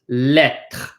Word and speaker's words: lettre: So this is lettre, lettre, lettre. This E says eh. This one is silent.